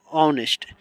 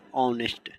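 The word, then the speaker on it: honest: यहां पर एच ओ एन ई एस टी ऑनेस्ट यहां पर आप देखिएगा कि एच है इससे नहीं मतलब है इसका उच्चारण देखिए ओ ओस्ट तो यहां होगा एन ऑनेस्ट।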